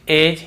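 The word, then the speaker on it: edge: फिर देखिए हेज और वेज, यहां पर भी डी को हम नहीं पढ़ रहे हैं, ब्रिज, एज, हेज और वेज।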